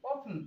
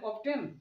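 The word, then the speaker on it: often: ও এফ টি এন, অফটেন, অফটেন, এভাবে যেন না হয়ে যায়। এর পূর্বে এই যে টি আছে, এটা হচ্ছে ইংলিশে সাইলেন্ট ওয়ার্ড, অর্থাৎ বাংলায় বলা হচ্ছে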